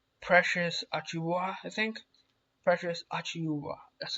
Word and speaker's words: Achiuwa: Precious Achiuwa, that's how you pronounce it.